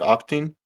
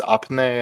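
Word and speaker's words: Opytne: south of bakmut around octin which apparently it's apne and I've been mispronouncing it for six months now uh Russian forces appear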